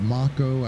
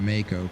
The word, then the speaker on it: Mako: you want to but I've heard Marco I've heard Mako whatever but I always go by Mako kind of like the mako shark and in fact in